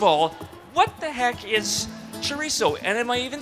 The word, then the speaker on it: chorizo: McPherson first of all what the heck is Charisse oh and am I even saying it right I think you're saying it just fine chorizo is just a spicy pork sausage it's fresh